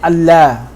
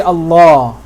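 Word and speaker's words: الله: Now, in the name of Allah, we don't say Allah. We say Allah. So there are some letters in Arabic where the sound is going to be like this, la, where the fatha is going to sound like that, la. There are some letters in Arabic where the fatha is going to sound like this, ah.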